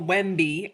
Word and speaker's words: Wemby: So, here we have perfect little WBY. Um, that is spelled we mb y. It's sort of a funny name. It's like Wendy but with an M.